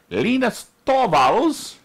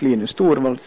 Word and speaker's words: Linus Torvalds: Linus Torvalds, you know that we pronounce it that way because that's how he pronounces it, as in this recording. Hello, this is Linus Torvalds, and I pronounce Linux as Linux.